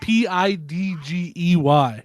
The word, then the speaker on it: Pidgey: said I will never say It's spelled F P-I-D-G-E-Y.